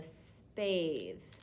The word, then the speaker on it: spathe: Now, this papery part is called the spathe. It's a silent E word.